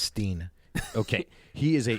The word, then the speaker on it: Stein: you guys familiar with Alex Stein I think it's pronounced Steen okay he is a